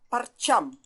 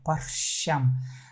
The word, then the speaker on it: парчам: А в хакасском языке вот этот звук Ч, он не совсем аналог в русском языке. Вроде как пишется одинаково, но на самом деле это он должен произноситься как фрикативное щ. Паршам. Парчам. Ну, некоторые хакасы так говорят, но все равно большей частью паршам.